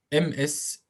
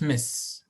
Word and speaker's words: Ms: MS pronounced like Ms, Ms, not Miss.